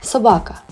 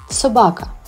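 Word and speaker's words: собака: best friend and protector let's try to learn how to pronounce the world dog in Ukrainian Sabaka once again Sabaka wonderful well done I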